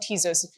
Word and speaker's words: Tezos: um uh you know tesos is a madeup word so you can technically pronounce it however you wish um but uh I I I have the ezos um but you can call it tesos if you if You' like um but yeah so